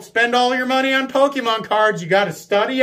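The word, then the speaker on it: Pokémon: is he always used to intentionally call it pokeman right you people know who you are you know it's pronounced pokemon you call it pokey man as if you're dismissing it so aggressively that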